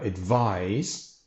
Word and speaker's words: advise: by looking at advise now advise rhymes with prize and size and if you remember that you'll probably never get it wrong so the verb to